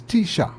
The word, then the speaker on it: Techa: this National lessons yeah so it is uh it's Tisha yes I got it right or Tisha